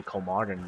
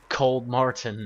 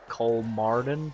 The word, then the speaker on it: Kolmården: grim kolmården that's it cold Martin no kolmården pretty sure that's how you pronounce it them all wrong